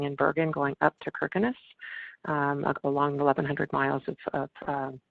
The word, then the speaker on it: Kirkenes: If we have Norwegians on this call here, I know I'm going to be mispronouncing some of these, but Kirkenes is actually pronounced Kirkenes.